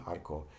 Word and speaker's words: arco: Now, when you pronounce the single R, like this one in arco, you just flap your tongue once.